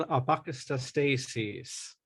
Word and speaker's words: AquaBrain: your institute, I'm still going to let you pronounce it for the folks. The school is called AquaBrain.